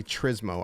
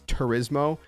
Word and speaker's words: Turismo: i always say trismo i don't know why it's i know that's not how it's pronounced but it's turismo but anyways whatever um